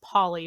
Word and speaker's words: Pawly: There's Cody, and then there's another, he kind of looks like a Shih Tzu mutt, and his name is Polly, but it's spelled Pawly.